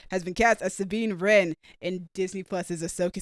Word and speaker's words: Wren: her first name is it's r e n wren no last last name is ren but it's spelled w-r-e-n like the bird that's a bird yeah